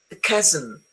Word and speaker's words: chasm: There are some words in English which are written with a CH, but they are pronounced K, as in chemist, as in choir, psychiatry, ache, stomach, chaos, chasm.